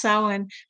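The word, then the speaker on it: Samhain: If you see Sierra she does Sam Hayne that's how it's spelled but it's actually pronounced sin.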